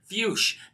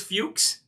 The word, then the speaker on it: Fuchs: and gentlemen jordan j-o-r-d-a-n fush f-u-c-h i know it sounds like the other word and maybe it is pronounced that way but for the sake of this show uh i think it's fuchs amy says wrong pronunciation